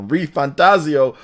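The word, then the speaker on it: ReFantazio: of metaphor reantaso I'm saying it correctly now reantaso on the PlayStation 5 so you definitely want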